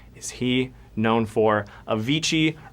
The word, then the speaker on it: Avicii: is he known for Avicii rhymes with serv Ichi I love fish but